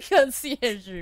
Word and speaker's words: Conciergerie: They step into the marble slab creamery of the conciergerie prison. Sullen-faced guards and visitors linger beneath the medieval archways. How did you pronounce it?